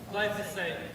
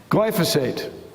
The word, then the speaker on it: glyphosate: Glyphosate. Glyphosate.